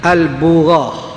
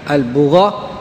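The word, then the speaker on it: البغاة: lain Burak lagi lain jangan silap baca jadi bughah Alif Lam Ba ghain Alif ta marbutah itu dia punya ejaan al-bughah kan al-bughah ejaan dia Alif Lam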